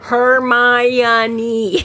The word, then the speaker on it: Hermione: the second book, it actually had somebody phonetically pronounce it Hermione, right?